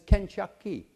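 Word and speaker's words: 肯德基: this go figure this KFC is pronounced in Chinese as kenaki now I didn't make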